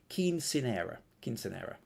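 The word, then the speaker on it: quinceañera: Oh, and how to pronounce it? Quinceanera.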